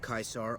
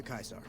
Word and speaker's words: Caesar: with this little Quest today by order of kaisar all visitors must disarm and relinquish all Bann items your belongings will be returned to you when you leave true to kaisar it's so funny none of them can really